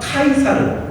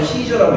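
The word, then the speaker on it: Caesar: 그래서 로마가 이 공화정을 취하고 있지만 백성들 마음속에 황제를 기다리는 마음이 막 등장할 때 그때 등장한 황제 후보가 카이사르 혹은 시저, 영어식 발음으로 시저라고 있는 율리우스 카이사르라는 사람이 등장을 해요.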